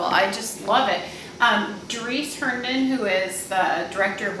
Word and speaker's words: Herndon: and then Herndon is HERNDON. Like Henry Dunn, but Herndon.